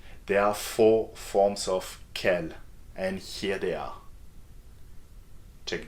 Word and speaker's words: quel: all French adjectives there are four forms of Kell and here they are check them out because